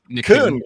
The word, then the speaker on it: Kuhn: Kuhn. Kuhn.